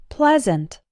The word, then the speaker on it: pleasant: as in the words get best and read pleasant pleasure something similar happens with the word court